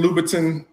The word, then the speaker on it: Louboutin: The Christian Louboutin. I don't know how you pronounce it.